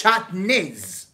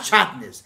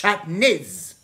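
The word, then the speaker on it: שעטנז: And there's always a superhero that says, hey, no, that's not the way you say it. It's shatnez. Not shatnez. It's shatnez.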